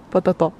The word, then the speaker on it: patatò: Patatò. Adesso Tomas non vuole più essere chiamato patato, ma patatò. Con l'accento sulla... No, comunque tutte e due vanno bene.